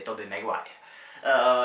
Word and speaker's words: Tobey Maguire: Jo, možná ještě mě napadá Tobey Maguire. To je Spider-Man a každý jeho jméno vyslovuje jinak, ale správná výslovnost je Tobey Maguire.